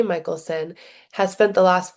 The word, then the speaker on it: Michelson: So many people do not pronounce my name right, but it is Michaelelsson. It just does not it's not spelled like that, right? Have an A in it.